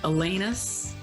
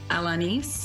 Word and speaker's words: Alanis: us the correct pronunciation there is no correct i've really come to terms with the fact the canadian version is atlantis yeah but a lot of people say alanis elena's alanis oh i really don't